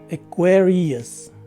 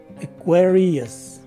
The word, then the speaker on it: Aquarius: you will see that the stress is in the second syllable the first letter a takes a swa sound and the second syllable